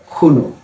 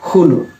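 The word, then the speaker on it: Qunu: Okay, so this is pronounced as Hunu. You have to front click the tongue like this first and then pronounce it Hunu.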